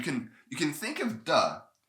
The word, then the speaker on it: 地: land dirt sometimes so the but here it's pronounced duh and this when it's used to as a